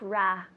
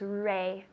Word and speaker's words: rating: rating rating rating good careful with that pronunciation it's not ra it's Ray Ray rating good last one